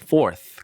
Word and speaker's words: fourth: 뭐 세 번째, third, 네 번째 이것도 우리가 유튜브에서 한 건데 fourth라고 하면 안 되고 th 발음 fourth.